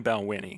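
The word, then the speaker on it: Balvenie: I know that they have a very, very popular product, and I don't want to mispronounce it. I think it's the It's Balwinnie. Balwinnie. It's definitely Balwinnie.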